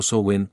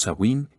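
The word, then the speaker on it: Samhain: con la festividad Celta del samain pronunciado sowen os sawin y Halloween celebrada el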